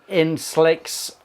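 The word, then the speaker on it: Insl-X: We've got the Inslicks um Max pronounce it in slicks in slicks.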